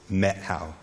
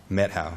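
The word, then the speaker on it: Methow: It's spelled M-E-T-H-O-W, but the pronunciation, if you're a local, is Methil. Methil, yeah. So they'll know if you're a tourist if you pronounce it Methil.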